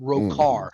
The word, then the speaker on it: Rhochar: I spelled it Rhochar, pronounced Rokar.